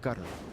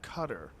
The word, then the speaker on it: Qatar: It's called a but So I've heard cutter. It's not cutter. But you're saying like a G. They use a G sound.